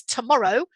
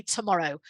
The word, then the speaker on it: tomorrow: wavy guy here but make it clear to the students that there isn't a second stress in tomorrow okay same thing with